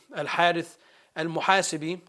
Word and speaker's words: Al-Harith al-Muhasibi: So this is kind of a little bit of a detail as it relates to Al-Harith al-Muhasibi, which is, it's the right way to say it, you need to have a tariqah.